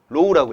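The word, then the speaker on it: ρ: 뭐 목이 아파 이렇게 이렇게 누워져 있는 형태 로우라고 읽어요 로우로 어 로우 로우라고 하고 단면적은 사이즈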